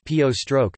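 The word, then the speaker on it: བོད: For instance, the word for Tibet itself was bod in classical Tibetan but is now pronounced po stroke in the Lhasa dialect.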